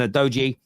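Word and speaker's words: Udogie: Basuma and Adoji.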